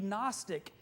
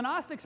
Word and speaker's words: Gnostic: history it was the Gnostic heresy spelled with a G in like the word goon osis in the Greek which means knowledge and